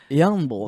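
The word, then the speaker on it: Jarnbjorn: pronounce me owner yeah young bull no you don't pronounce the J and it's simple the Leviathan axe in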